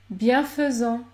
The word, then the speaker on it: bienfaisant: Enfin, les lettres AI peuvent se prononcer E, dans les mots dérivés du verbe faire, comme par exemple nous faisons, bienfaisant, bienfaisant.